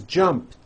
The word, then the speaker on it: jumped: So jump becomes jumped, with a T sound at the end. Jumped. Of course, the word is spelled with an ed ending. It's just pronounced as a T.